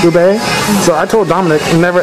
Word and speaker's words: ube: So you got the, how do you pronounce it? The milk tea and the ubi? Ube. Ube.